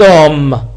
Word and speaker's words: homme: بH صامتة الغير المنطوقة نقول cet homme. H لا تنطق ولذلك نستعمل CET.